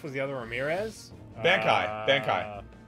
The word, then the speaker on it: Bankai: then my husband saying if that's a bleach reference you guys are pronouncing are wrong ignoring well I don't know that it is it is Ban Kai Bon is there just